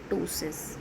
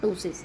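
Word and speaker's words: ptosis: is a case of tosis okay p is silent here and it is a tosis next one is the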